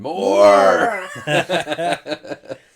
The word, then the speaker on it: Morr: And more. MORR. Yes. Yeah. More. Yeah. Maybe you roll the R. Why would you? I don't know. Anyway, the first R is silent.